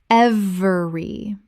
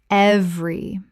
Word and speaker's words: every: Every. Correct pronunciation. Every. 2 syllables in natural speech. The middle vowel is dropped almost universally.